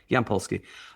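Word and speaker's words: Yampolskiy: Yamp like that's the easy bit. Y M P Y A P and then P. Oh no, it's Pski with an I before the the Y. Yampolski.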